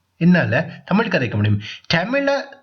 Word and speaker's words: தமிழ்: என்னால தமிழ் கதைக்க முடியும் தமிழை தமிழ் என்று சொல்லணுமா தமிழ் என்று சொல்லணுமா என்று கேட்டீங்கன்னா நான் வந்து தமிழ் என்று சொல்லணும்னு தான் சொல்லணும் தமிழ் வந்து எங்களுடைய மொழி தமிழை நாங்க எப்படி உச்சரிக்கிறோமோ அதை போல மற்ற ஆட்களும் உச்சரிச்சா ரொம்ப நல்லா இருக்கும் அப்படின்றது என்னுடைய ஏனென்றால் எங்களுக்கு சிறப்பே லகரம் லகரம் தானே அப்ப தமிழ் என்று சொல்லைக்குள்ள அழகா சொல்லணும் தமிழ் அப்படின்னு சொல்லி அசிங்கமா சொல்லக்கூடாது ஓகே ஐ கேன் ஸ்பீக்